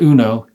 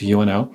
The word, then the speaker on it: UNO: It's not UNO, it's UNO.